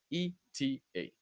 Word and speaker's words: ETA: Okay, So it's also not pronounced as a word. It's letter by letter. ETA.